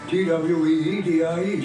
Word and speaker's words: Tweedie: Tweedie, just like it's spelled. Just like the Tweety bird?